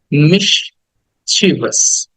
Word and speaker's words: mischievous: অনেকে মিসচিভিয়াস বলি, অনেকে মিসচিভিয়াস বলি, বাট উচ্চারণ হচ্ছে মিসচিভাস।